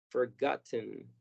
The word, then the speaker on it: forgotten: Y en algunos acentos de los Estados Unidos, especialmente en el sur, vamos a escuchar que la T es muda en esta palabra. Yo personalmente la pronuncio esta palabra sin la T como forgot. Entonces primero forgot, los sonidos de la primera sílaba, forgot, y luego pronunciamos muy marcada la letra N, como haciendo una pausa entre forgot, forgotten. Y esta es una forma muy, muy común de pronunciarlo, pero que no es necesario.